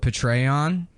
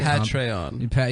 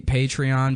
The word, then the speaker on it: Patreon: patreon P I said I used to call it Petron like General petray P guy sucking and that's how I thought you pronounced it and then somebody